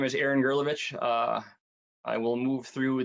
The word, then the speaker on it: Gerlovich: last name is it is it like gif or jiff is it gurlovich or jurlo witch it's gurlovich grilovich well see i i